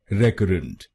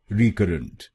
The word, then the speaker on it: recurrent: इसकी सही प्रोनाउंसिएशन है रिकरेंट। रिकरेंट। इस शब्द में 3 शब्दांश हैं। पहला शब्दांश है RE, दूसरा शब्दांश है CURR और आखिरी शब्दांश है ENT। पहले शब्दांश को यानी RE हम बोलेंगे रे। रे। गलत प्रोनाउंसिएशन में हम इस शब्दांश को बोलते हैं री या रे। तो इसको री या रे नहीं बोलिए, इसको बोलिए रे। रे।